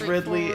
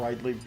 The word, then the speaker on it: Ridley: survive ly neutral specials isn't as Ridley and the fact that you call and rightly really really just blows me away I cannot understand how you see that and say rightly because that's how it's spelled no it isn't if it was rightly the e would be on the other side of the Apple that's